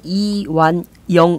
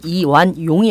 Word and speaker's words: 이완영: 얘기를 해보도록 하죠이 새누리당 이완영 의원입니다 여러분 이완용이 아닙니다 발음 잘하셔야 됩니다 예